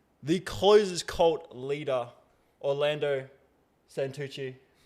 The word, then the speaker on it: Santucci: Today I'm joined here with the closest cult leader, Orlando Sanuchi. How are you, mate? Amazing. I'm so happy you pronounced my name right.